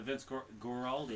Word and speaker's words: Vince Guaraldi: He's part of the Vince Guaraldi.